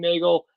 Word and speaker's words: Neagle: you can find me on LinkedIn Nagel NE E A GLE e it's spelled like beagle but pronounced like Bagel so you know and